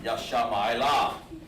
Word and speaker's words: Ishmael: When you heard the in the old days, if they said Ishmael, they pronounced him Yashama'ila. That's how it sounded, okay?